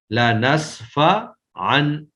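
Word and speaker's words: لنسفعا: تو یہ ہے لنصفعن، یہ جو لنصفعن ہے عین دو زبر ان، تو یہ اگرچہ ہمیں تو تنوین نظر آ رہی ہے، کتابت میں یہ تنوین ہے لیکن نطق یعنی ادائیگی میں یہ تنوین نہیں بلکہ نون ساکن ہے، لنصفعن پڑھنے میں نون ساکن ہی ہے، تو اس کا معنی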